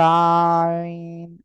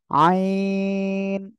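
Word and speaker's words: عين: বলেন আইন একসাথে বলেন এখানে অনেকের ভুল হচ্ছে অনেকে বলতেছে আইন এরকম বলা যাবে না আইন আইন সবাই একসাথে বলেন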